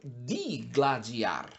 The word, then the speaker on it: digladiar: enfrentar com o gládio ora dois é de lembra de de sílabo duas sílabas Então os portadores de dois gládios iriam lutar ou seja iriam digladiar algo que impede de